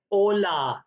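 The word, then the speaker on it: hola: next है वो है आचे आचे जो होता है व हमेशा साइलेंट रहता है स्पेनिश में तो उसको प्रोनाउंस ऐसे करना है आचे आचे ओला आपने देखा होगाय एच लिखा हुआ है मैंने इसलिए रेड किया है कि यह प्रोनाउंस नहीं होगा ओला आचे ओ एले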